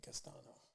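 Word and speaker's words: Castaño: charlo versus brian castillo castano and or castano that's how you say his name sorry about that all right don't don't get me castano okay i got it it took me two times but i got your name right um yeah man so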